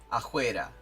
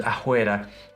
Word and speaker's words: fuera: You will see like this fuera, for example, pronounced like it's written with a jota, afuera. Becomes afuera.